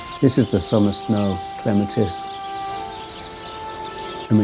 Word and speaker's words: Clematis: Our garden club has been having a discussion about if it's Clematis or Clematis. And in the Midwest, it has been Clematis forever. So we've started, the correct pronunciation is Clematis.